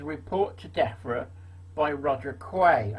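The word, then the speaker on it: Quy: to DEFRA by Roger Quay. I think that's how you pronounce it, Q-U-Y, his surname is.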